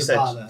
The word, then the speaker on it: ciabatta: I was like, how do you say this? Chaba. Oh yeah, you ciabatta. Said just like that.